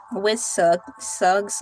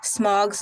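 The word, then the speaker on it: Smaug: in the Misty Mountains or when faced with Sug's lair. I was saying it correctly at first. Smog's lair.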